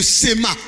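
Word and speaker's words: שמע: parts et passais ma parce que le h ne se prononcent pas on y peut c'est le cema sémantique au goût amer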